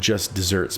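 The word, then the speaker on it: just deserts: or punishment which is spelled like the arid land but pronounced like the sweet treat interesting the more you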